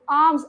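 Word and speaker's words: alms: आर्म्स, L silent होता है इसमें।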